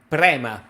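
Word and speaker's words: Prema: has a real the same trer primma yeah prma p r e m a say it like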